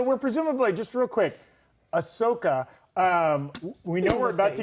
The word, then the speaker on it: Ahsoka: You said Ashoka Tano. Ahsoka. Is it Ahsoka? Yeah, the H is silent.